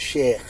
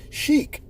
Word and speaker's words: sheikh: Sheik as they said it's called sham in Arabic but you know the we a lot of English people would pronounce it Sheikh right this guy's walking